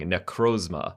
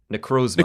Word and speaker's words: Necrozma: How do you pronounce this thing? Necrozma. Oh, we've been saying it right. Necrozma.